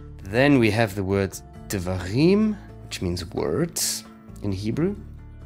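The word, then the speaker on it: דברים: You have a dalet with a dagesh forte, which means it's a strong d sound, another vocal schwa, and those two together form an open syllable. D, and then a veit, kemet, de, va, rim, resh, chirik yod, and again wrapped by a mem suffix, dvarim.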